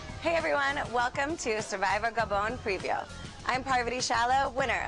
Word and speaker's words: Gabon: name of the country gabon gabon who knows some people say Gabon some people say gabone the French say gabone so I'm going with the French only I'm adding the